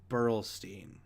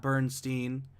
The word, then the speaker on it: Burlstein: So I believe it's Frederick Burlstein, not Bernstein.